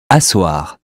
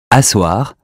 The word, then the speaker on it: asseoir: Asseoir. Asseoir with two S as in sassy.